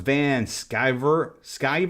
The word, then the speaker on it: Van Sciver: It's pronounced Van Sciver, like MacGyver.